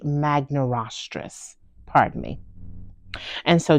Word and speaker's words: magnirostris: stouter beak and G magn estris has the largest stoutest beak of the three actually that's pronounced g magaris g magaris pardon me and so